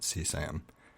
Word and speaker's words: CSAM: And I think they actually just generally pronounce it CSAM.